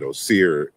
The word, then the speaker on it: Osir: So Asar is how I first came across the name, but Osir is what I've come to know it as in terms of its correct pronunciation.